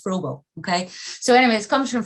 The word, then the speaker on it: Froebel: comes from um frogle as i'm told it's pronounced i've been saying freddle for years apparently it's frogo okay so anyways comes from froebel and you